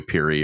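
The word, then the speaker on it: Pirrie: and the actress Chloe I don't know how to pronounce her last name Chloe Peary or papiery it's actually spelled p-i-r-r-i-e anyway um she I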